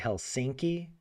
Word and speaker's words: Helsinki: Sometimes people will say Helsinki with the emphasis on the second syllable, but that's small.